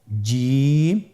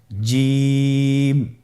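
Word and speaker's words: جيم: এর মাখরাজ হলো জিহ্বার মধ্যখান, তার বরাবর উপরের তালুর সঙ্গে লাগিয়ে উচ্চারিত হয়।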